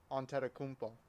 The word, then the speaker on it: Antetokounmpo: How you pronounce his last name again? Antetokounmpo.